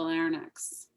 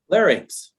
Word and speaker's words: larynx: Are there medications that can damage the larynx or larynx? Suzanne? Yeah, I heard you correct it. Will you repeat how it is actually pronounced? Larynx. If you're in the UP, it rhymes with ice rink, so larynx.